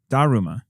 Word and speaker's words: Daruma: to the Ruma or DaRuMa DaRuMa I want to say because you're Japanese and they tend to emphasize yeah on the first syllable yeah and it sees on first syllable way those the art